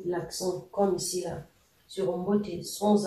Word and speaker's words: mboté: Et donc, le E ici, accentué, il faut le lire comme dans écrire.